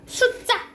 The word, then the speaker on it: 숫자: 근데 우리 어떻게 발음나? 숫자 뒤가 된 소리가 나죠.